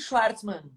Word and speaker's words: Chwartzmann: Não, Fala aí como é a tá pronúncia. bem. É Schwartzman.